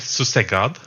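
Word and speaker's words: susegad: It's yeah it's it's pronounced it said suse god sus god.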